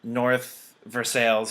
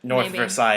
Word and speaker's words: North Versailles: brewery uh out of north versailles pennsylvania if you pronounce it north versailles if you pronounce things